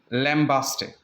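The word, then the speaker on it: lambaste: सो हीउ जेको आहे कॉमनली तव्हां इंटरनेट वग़ैरह ते ॾिसो त लैम्बेस्ट, राइट, या लैम्बास्ट. सो ॿई साउंड्स बि हिन जा आहिनि.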